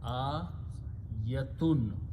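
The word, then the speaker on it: آيةٌ: I have seen even the Hafiz make a mistake here. They stretch this a little bit longer, and its meaning becomes plural.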